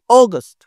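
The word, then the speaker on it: August: দিয়ে কিভাবে হবে জুলাই আগস্ট অগস্ট দেখ এটা একটু জোরে বলতেছি আগস্ট আর আগস্ট একটু আস্তে বলতেছি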